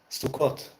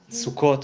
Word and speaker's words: Sukkot: Sukkot, but I said it with an Ashkenazi, because I'm speaking English here, so I went with the Ashkenazi pronunciation. Sukkot, Sukkot, yeah.